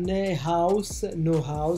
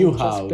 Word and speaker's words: Neuhaus: Allora, partiamo con il primo giocatore è Florian Neuhaus, dovrebbe essere la pronuncia, Newhouse spero, dovrebbe essere. Neuhaus, ok, grazie mille per l'aiuto con la pronuncia, Spero, è un spero.